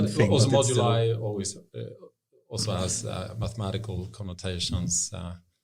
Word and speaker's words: Moduli: to pronounce it correctly, Module AI. No, Moduli. Moduli.